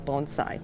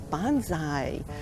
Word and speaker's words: bonsai: all the time and they say what is bonsai usually they don't say it like that they say what is bonsai and then so first we have to say